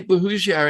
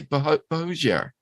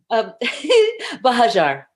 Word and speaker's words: Buhagiar: I'm going to say Buhagiar, and I know that's wrong.